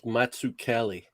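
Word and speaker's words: Mazzucchelli: It's Matsukeli. Oh, that's Massive Zucchini. I'm going to call him Massive Zucchini. Massive Zucchini. I'm going to call him Matsukeli.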